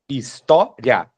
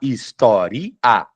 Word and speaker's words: história: Eu não consigo falar historia, já fica estranho. A pronúncia não é essa, não é historia. Eu não falo historia, eu falo história.